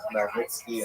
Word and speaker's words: Khmelnytsky: You may have seen his name spelled Chmeil, something like that. Khmelnytsky, something like that. That's just a Polish spelling. The pronunciation is definitely Bogdan Khmelnytsky, and this is the transliterated version from Ukrainian.